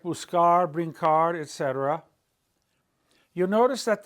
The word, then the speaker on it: buscar: But when the letter C is followed by an A, O, or U, it's a hard C sound, ka, ko, ku. When we say buscar and all these other